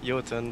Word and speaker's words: Jotun: either apparently no uh I know the correct pronunciation is yon but uh we made the decision early on to call it Jon just to uh to